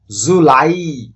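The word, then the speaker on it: July: Next, জুলাই, জুলাই। জুলাই যে মাসটি, এটিতে মূলত দুইটি সিলেবল আছে। দুইটি সিলেবলের মধ্যে দ্বিতীয় যে সিলেবলটি অর্থাৎ লাই, এটিতে আমাদেরকে একটু উচ্চারণ করার সময় বেশি জোর দিতে হবে।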